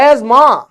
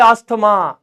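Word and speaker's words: asthma: अच्छा अब ये ऐसे लिखते हैं, अब ये बोल रहे हैं एज मां, वाह, मतलब सीधा ये दो वर्ड साइलेंट हो गए, दो वर्ड सीधा साइलेंट, एज मां। हमारे जैसे आदमी बोले अस्थमा, ये कहो ना ना ना ना ना ना, ना अस्थमा नहीं, बीच में टीएच लगाओ। अरे बावड़े सीधे लिखो ना ASMA, एजमा, ऐसे लिख दो।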